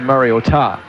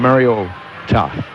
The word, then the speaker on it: Mariota: and we said, well, it's not meant to be a pronunciation. It's just the O is big to show it's Oregon, but it's actually Mariota. But it was the correct pronunciation, Mariota.